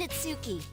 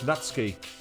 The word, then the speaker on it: Natsuki: son oh come on I mean nitsuki well I've always pronounced it as natsuki because they pronounced it like that but I don't get it's written in Roman form so I don't know exactly which kanji or Canada they're using so I might be mispronouncing that well that's gonna get